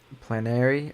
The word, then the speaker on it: plenary: He freezed when he was saying Trump has plenary authority.